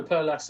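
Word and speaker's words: Perl Las: Yeah, I believe it's Per, because a lot of people spell it PER and don't put the L on, but on their website it's got the L. So no, Per Las, I believe, is how it's pronounced.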